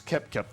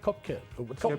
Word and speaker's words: Koepka: Paul Casey, Brian Harman, Tommy Fleetwood and Brooks Koepka, all 7 under.